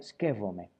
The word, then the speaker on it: σκέπτομαι: Bueno, en Creta, en la región de Creta, el verbo skeptome se pronuncia skefome. Skefome derivado en skefome. La mayoría de los atenienses hoy día y de la zona, digamos, del de la península pronuncian skeptome e suavizando la P por F.